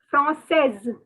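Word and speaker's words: française: fro says france says you have to pronounce the s from says okay per voice should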